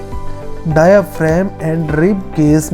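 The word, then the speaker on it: diaphragm: इसको बोलते हैं डायाफ्राम जी साइलेंट होता है तो डायाफ्राम बोलते हैं और यह चेस्ट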